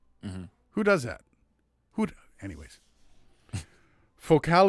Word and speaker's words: Focal: Focal is French company. That's why it's pronounced like this.